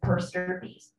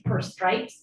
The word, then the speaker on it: per stirpes: estate to your children per stirpes, how do you spell that? P-E-R-S-T-I-R-P-E-S. Two words. It looks, it, you would think it's per stripes, but you reverse the I and the R.